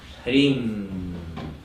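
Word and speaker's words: ह्रीं: Hrim is an H with a vibrant M, and cream, like in cream, chocolate ice cream.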